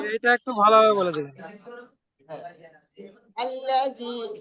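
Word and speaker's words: الذي: আল্লাজি, এ দেখেন, এটা আল্লাজি ওয়াসবিসু, আমি বানান করে দিচ্ছি, সকলে দেখেন।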